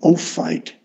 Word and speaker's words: Ophite: Those 10 rings originate in Ophite diagrams. That's spelled O-P-H-I-T-E.